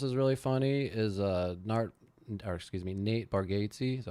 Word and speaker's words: Bargatze: You know who else is really funny is Nate Bargatze.